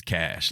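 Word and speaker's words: cache: fire cash but like it's a French word that I think possibly in France they pronounce as cash or something like that but uh it's cash like as in Johnny Cash where I keep my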